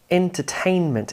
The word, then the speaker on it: entertainment: Entertainment, entertainment. Some stress on the first syllable, most of the stress on the third syllable.